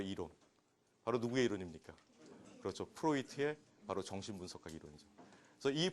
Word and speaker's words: 프로이트: 자, 그럼 이제 어 프로이트에 대한 강의인데 아 어떤 분은이 D자가 들어가서 프로이드라고 읽잖아요. 그죠? 그런데 이제 이게 독일로입니다. 그러니까 여러분들 이제 그래서 상담 이제 공부하시니까 프로이트 이렇게 이제 하셔야 돼요. 이게 독일로거든요. 이게 오이 발음이 나고 이제 이게 제일 마지막에 뛰는 티발음이더 프로이트 여러분 그 프로젝트